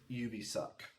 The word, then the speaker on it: Ubisoft: It's Ubisoft.